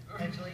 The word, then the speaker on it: Badgley: Badgley? Badgley, yeah.